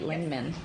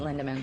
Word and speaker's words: Lindeman: Did I pronounce that right? Lindman. Or is it Lindeman?